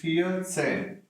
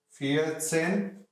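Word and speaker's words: vierzehn: same way in case of 14 it is fear same fear same fear sin fear sin 4 10 4 plus 10 15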